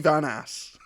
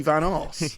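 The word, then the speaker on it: Van Aas: There's a bit when Steve Pemberton, Dickie Van Ass, Or Dickie Van Arse, Yeah. depending on whose pronunciation you go with.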